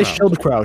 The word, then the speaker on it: Schildkraut: I think it's Schildkraut. Just say Schildkraut.